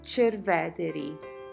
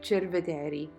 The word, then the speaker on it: Cerveteri: It is called Cerveteri or Cerveteri. Depending on who you talk to, the pronunciation is a little bit different.